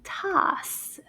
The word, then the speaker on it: tasse: It's called a tasse. Tasse. Tasse. Let's see how many syllables in the word tasse. Tasse. Oh, une syllabe. Just one.